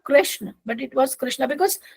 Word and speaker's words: Krishna: you and I am using Ram as Ram only not Rama Krishna is just Krishna not Krishna because it's not Rama Rama is western you know European countries uh people are not able to pronounce announcing therefore they are calling it but if we Indians if